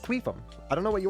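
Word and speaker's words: Qufim: Yeah, it's it's not my fault that that's how it's pronounced. It's It's pronounced queum.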